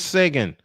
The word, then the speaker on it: Seguin: I believe the way you pronounce it is Sagan.